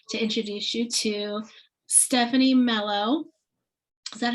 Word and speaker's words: Melo: i'm super excited to introduce you to stephanie mello is that how you say your last name